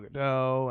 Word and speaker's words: Gadot: Not sure if it's Gal Gadot or Gal Gadot. It's Gal Gadot. She's Israeli. No hard T.